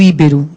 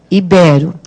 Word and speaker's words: ibero: Olha lá, eu escuto muito íbero. E, em verdade, é ibero. Então, qual é a sílaba tônica de ibero? É o bé.